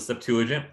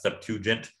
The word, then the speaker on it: Septuagint: So one of the big ones is the Septuagint, or sometimes Septuagint. There's people pronounce it differently.